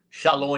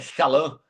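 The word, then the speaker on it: שלום: Shalom aí na verdade é shalã.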